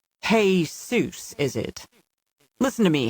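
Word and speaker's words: Jesús: man's name, calling him Jesus. Emphasis loud on the first syllable as if he is calling out to the author who wrote How the Grinch Stole Christmas. Hey Seuss is it.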